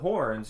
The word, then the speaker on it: Huorn: But the horns are more like how trees. Do you say it? Horns. Horns. That's how I say it. Yeah. Horns. I think that's the right way of pronouncing it.